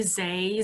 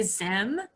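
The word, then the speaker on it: xe: i'll hear um z zee zem as their their pronouns so either usually spelled um like x e so like z or z they pronounce it differently um all the kids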